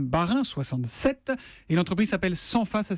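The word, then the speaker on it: Senfa: Et l'entreprise s'appelle Sanfa, ça s'écrit S-E-N-F-A.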